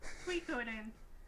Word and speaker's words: Suikoden: Suikoden.